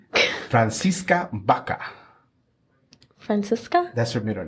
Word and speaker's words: Baca: how do you say her last name francisa Baka francisa that's her middle name Judith francisa francisa